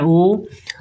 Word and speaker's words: ओम: है तो यानी कि ओम का उच्चारण स्थान जैसे आजकल जैसे ओम डायरेक्ट बोला जाता है तो ओम ऐसे नहीं होता है यहां पर थोड़ा समय लिया जाता है ओम इस तरह से तो यह जो